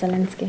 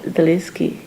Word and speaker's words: Zelensky: Zelensky, is that how I should pronounce it? Yes, it's Zelensky. Zelensky.